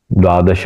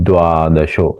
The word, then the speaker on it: द्वादशो: श्लोक है द्वितीय श्लोक यहां पे हम उच्चार अथ द्वादशो दद ये उच्चार ये द का डबल उच्चारण अथ द्वादशो ये भी